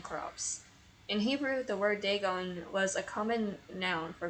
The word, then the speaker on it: Dagon: Dagon. So, my pronunciation was right.